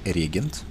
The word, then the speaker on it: регент: Значит, правильно говорить, регент. Ударение на Е первое.